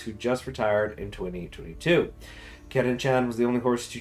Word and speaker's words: Curren Chan: Her name comes from the owner's daughter, Karen-chan. Oh, so it's Karen. But it's just spelled like the Japanese way. It's like the Czar thing for Japanese. So it's Karen-chan.